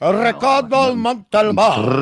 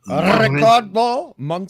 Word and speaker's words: Ricardo Montalban: And you literally just beat me to saying Ricardo Montalban. You have to say it like that, Hungry. Ricardo Montalban. Ricardo. Ricardo Montalban.